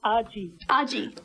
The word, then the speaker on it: Argy: let's talk with Argy. That's how she pronounces it. Argy, welcome to the show. It's Argy.